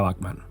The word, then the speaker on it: Bachman: Y por cierto, sí, se pronuncia Bachman.